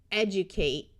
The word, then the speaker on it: educate: Dictate, educate. Note that a D before a long U sound often sounds more like J. Elevate, emulate, hydrate, where the Y has a long I sound.